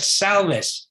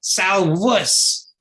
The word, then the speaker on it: salvus: You said salvus. The correct pronunciation is salvus.